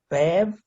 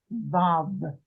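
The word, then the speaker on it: ו: Vav. Vav.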